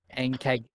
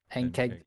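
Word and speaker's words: Ankheg: Ankeg. Ankeg.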